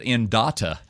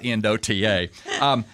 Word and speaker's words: Endota: I think they pronounce it Endota, not Endota. But, it was interesting that we brought this up.